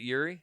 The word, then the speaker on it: Jiri: Is it Yuri? Yeah, that's how you pronounce that. It's Yuri. How do you spell it? Jiri.